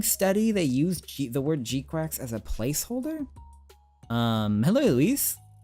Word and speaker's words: GQuuuuuuX: The GQuuuuuuX, if anyone was curious how you pronounce GQuuuuuuX.